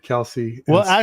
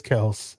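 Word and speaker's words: Kelce: manto man coverage on he likes to say Kel uh instead of Kelsey the original way to pronounce their last name is Kel there was a podcast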